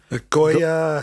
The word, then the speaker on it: Goyer: In 2001, also a guy called David, I think it's Goyer, I've never been able to pronounce his name. Goya, hey.